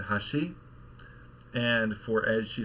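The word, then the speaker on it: 箸: So, if you've got a particle afterward, for something where the accent is on the first mora, like the word for chopsticks, maybe that's the most straightforward, right?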